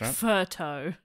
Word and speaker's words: pho: And pho as well, even though I think pho is not even pronounced like that, but it's like photo is one nearby to here. I think on Sydney Road there's a photo. But it should be like furto.